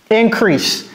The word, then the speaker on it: increase: Encore une fois, je tiens à rappeler que ça se prononce comme si c'était 2 S. Ce n'est pas increase, ok? Ce n'est pas increase et ce n'est pas crise. C'est increase, comme si c'était 2 S.